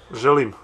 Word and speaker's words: Želim: Želim.